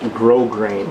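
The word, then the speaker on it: grosgrain: You say it's pronounced grow grain. Grow grain. Oh, I'll forget that. Um, grow grain. What about the s's? There's s's in there and they're silent apparently. Grow grain.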